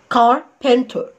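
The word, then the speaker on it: carpenter: طب بص كده هتتنطق ايه؟ كار كار، وزي ما قلنا الار مش هنطقها، كار. بن بن تا، وبرده الار في الاخر مش هتتنطق، تتنطق ايه؟ كاربنتر كاربنتر كاربنتر كاربنتر، والار بخطفها كانها خفيها، كاربنتر كاربنتر.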